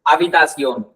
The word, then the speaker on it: habitación: habitación, H silent होता है, habitación pronounce करना है इसको, habitación।